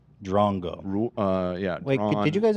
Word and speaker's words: drongo: By the way, an Australian fan of ours donated 20 Aussie dollars and said it's pronounced Drongo. Drongo.